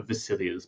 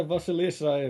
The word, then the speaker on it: Vasilisa: What are your plans for the immediate future, or what are Vasilia's plans for or Vasilisa? Is that how it's said? Yeah, Vasilisa, if it's the Hmm. full name, not the diminutive.